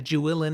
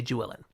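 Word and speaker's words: Juilin: I always say Jewelin. I feel like it's Julin, not like Jewelin.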